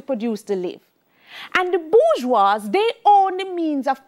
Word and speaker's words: bourgeois: the rich are called bourgeois it's french so it is spelled bourgeoisie but it's pronounced bourgeois yeah so the rich